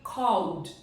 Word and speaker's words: called: Então, o correto seria called, called. Sai do L, vai direto pro D, tá? Called, ele tem o som de D.